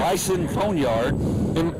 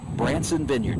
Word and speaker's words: Branson Vineyard: How do you say it, Coach? It's Branson Vineyard.